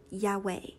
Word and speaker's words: Yahweh: study okay so the name of God is Yahweh and later I will always use Adonai to